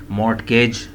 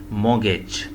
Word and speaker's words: mortgage: ऐसे लग रहा है ना पढ़ने में, लेकिन नहीं भाई ऐसे नहीं पढ़ना, इसको भी आपने मोगेज, टी साइलेंट करके टी को उड़ा दें, मोगेज, आर को भी ख़त्म कर दें, मोगेज पढ़ सकते हैं जी इसे आप।